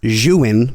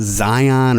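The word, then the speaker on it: Zhiyun: gimbal which we realized it's pronounced xuin when it looks like it's pronounced Zion or Zeon or something like that z u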